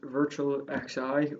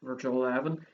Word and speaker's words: Virtual XI: So the next song is Virtual XI, or this album can be pronounced as Virtual 11.